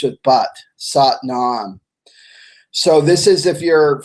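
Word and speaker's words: Sat Nam: when he came to the west and is sought non sought none SAT and AM sought rhymes with but satnaam so this is if you're familiar with Kundalini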